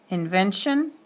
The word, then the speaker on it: invention: All right, invent, final accent is on the T. Invention, invention, doesn't move. Well, I shouldn't say it doesn't move. The accent falls on the syllable right before the suffix. So when you read the word that end in the T, the accent falls on the syllable right before the suffix, so it does not change.